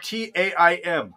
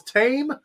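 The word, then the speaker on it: Taim: My name is spelled T-A-I-M. Oh, your name is Tame? No, it's Ta'im.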